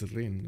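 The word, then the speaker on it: Rijn: is it Rin you you just don't pronounce the J I think it's Rin right anyway I should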